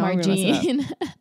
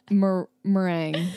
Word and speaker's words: meringue: It's like it's spelled like merengue, but it's marginin. What is it? Lemon. Oh gosh, no, margine. Meringue.